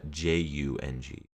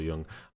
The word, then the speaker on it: Jung: Young is actually spelled Y-U-N-G, unless, of course, you are a renowned psychologist, and then you might spell it J-U-N-G, but that might be pronounced more like Jung.